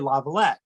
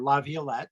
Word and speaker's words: Laviolette: One of the most successful NHL coaches is a guy named Peter Laviolette, or Laviolette, depending on how you pronounce it.